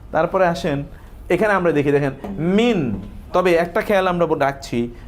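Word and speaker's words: مِنَ: তবে একটা খেয়াল আমরা রাখছি, মিন যখন আসবে কোনো নাউনের পূর্বে, এই নাউনের পরে যদি আলিফ লাম থাকে, এই যে নাউনের পরে কি থাকে, যদি হামজাতুল ওয়াসল শব্দের শুরুতে আসলে সেখানে মিনটা মিনা হয়ে যাবে।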